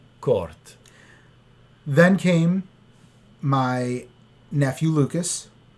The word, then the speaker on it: Kurt: But it's spelled Kurt. right. Yep. So not Kurt, Court.